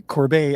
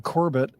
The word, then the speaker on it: Corbet: of The Brutalist's name, which is Brady Corbet. I'd been saying Corbett.